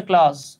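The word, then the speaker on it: clause: হ্যাঁ, এই উচ্চারণ হচ্ছে ক্লজ। ক্লজ জ এবং ঝয়ের মতো মাঝামাঝি আর কি।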